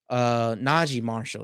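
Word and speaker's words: Naji Marshall: Trey Murphy, Marshall, Najee Marshall.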